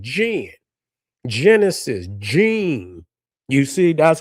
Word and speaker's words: Djinn: You can spell it JIN, and it's the same pronunciation as GEN, Jinn.